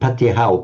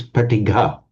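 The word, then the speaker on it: paṭigha: It's not Patihau, Patihan, it's Pratigha. Like it's not Sanhan or Sanha, but Sangha. It's where the G comes back.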